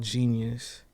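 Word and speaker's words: jeen-yuhs: Yeah, but it's like phonetically spelled like JEENIUS. dash U. I mean dash YUHS, like genius, like you know, like how you break a word down.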